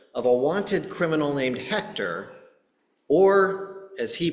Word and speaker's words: Hector: So early one morning, he and his team are outside the apartment door of a wanted criminal named Hector, or as he pronounced it, Hecta.